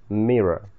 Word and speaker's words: mirror: внимательно, как оно читается. Mirror.